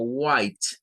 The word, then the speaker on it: white: Entonces nos aparece aquí como white, white. Pero esta pronunciación puede tener una variante y es que